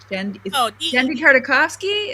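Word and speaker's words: Genndy Tartakovsky: So Gendy Tartakovsky, is that right? Is that how you pronounce his name?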